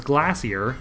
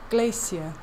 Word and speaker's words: Glacia: just another quest step Laura says glassier and that's just straight-up wrong this is horrifying of itself just because the lady scares me with her dead doll Glacia so she was just saying it wrong yeah Flora's an idiot